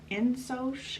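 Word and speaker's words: Ingsoc: a word uh called in soch i think is how you pronounce it it is two words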